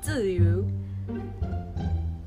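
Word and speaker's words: 쯔위: 쯔유. 쪼쯔유. 쪼쯔유. 이게 어렵다. 이게 입모양이 우인데 발음은 이라고 생각해야 돼.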